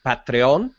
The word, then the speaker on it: Patreon: And by the way, proper pronunciation would be Patreon.